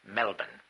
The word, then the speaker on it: Melbourne: I learned to that you don't pronounce Melbourne Melbourne but Melbourne.